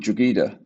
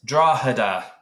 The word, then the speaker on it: Drogheda: I think that's called Drogheda. Absolutely wrong. That is Drogheda. Oh, okay, Right. So it's a silent G.